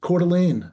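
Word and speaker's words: Coeur d'Alene: That's Cordelane, Idaho. Northern Idaho. Beautiful, beautiful small city. if you ever get a chance to go to Cordelane and adjoining areas and Heather Dal Mullen from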